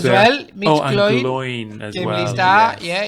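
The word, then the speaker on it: Glóin: Gloin as Gimli well. Star. yes. Yeah. I thought his name was Glowin No, Gloin. because it rhymes with Owen.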